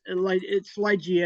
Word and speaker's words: Ligeia: So basically, it's Ligeia. It's based on the short story "The Tomb of Ligeia" by Edgar Allan Poe.